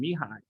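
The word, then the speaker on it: Mihaly: set me high and he pronounces his first name mihai even though there's an l in there um so um okay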